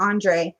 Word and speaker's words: Andre: take care thank you is it Andrew or Andre I think it's Andre I'm sorry if I pronounced your name wrong yeah it's Andre I thought it was Andrew and it's Andre I'm sorry sweetheart maybe